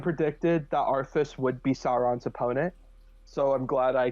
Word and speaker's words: Sauron: It's like it's pronounced Sauron, not Sauron.